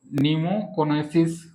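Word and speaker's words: pneumoconiosis: आठ प्रकार में पहला पहला डिजीज होता है नीमोकोनेसिस इनका टाइप कितना है? ए टाइप है। पहला टाइप है नीमोकोनोसिस। पी इसका साइलेंट रहता है निमो निमोकोनोसिस।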